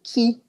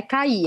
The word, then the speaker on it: qui: E a pronúncia desse que, vamos por aqui, a pronúncia desse que tem que ser bem aberta. Então, a pronúncia é assim, tá? Que, tá? Não é cair, é que.